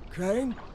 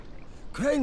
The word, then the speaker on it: Crane: Crane? Crane rhymes with train and brain and sane and grain and rain and plane and the other kind of plane and...